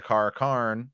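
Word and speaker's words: Car'a'carn: And at the end, he becomes the Kara Karn, or in the middle, he becomes the Kara Karn, and then he marches on Tyr.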